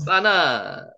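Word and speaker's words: בנה: 발음은 빠, 쌍비읍으로 하는 게 맞습니다. 왜냐하면 경강점 여기 찍혀 있죠. 빠나, 빠나가 사타는 뜻입니다.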